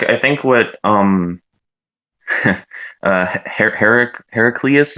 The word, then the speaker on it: Heraclius: think what um uh herrick heracles is that how you pronounce it yeah heraclius yeah he's an old byzantine